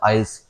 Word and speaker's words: IELTS: मेरे साढ़े बैंड है आइल्स में या आईलेट्स बोलते हैं कहीं भाई लेकिन आइल्स होती है और रियलिटी जो उसका प्रोनाउंस होता है आइल्स आयस में साढ़े बैंड